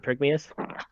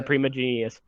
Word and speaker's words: Primigenius: Is it Prigmius? How you pronounce that? You mean the the mammoth. I think it was Primigenius, right? Primigenius, I think, Primigenius? Yeah, Primigenius.